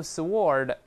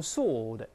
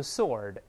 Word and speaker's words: sword: 不要读 sword，注意 W is silent，这个 W 是不发音的。英国人读成 sword，美国人读成 sword， two-edged sword，有的